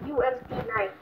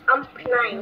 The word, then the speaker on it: UMP 9: Pronunciation. UMP 9. Not amp 9.